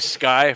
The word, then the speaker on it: SCCY: So you into familiar the with it's spelled SCCY Sky Firearms?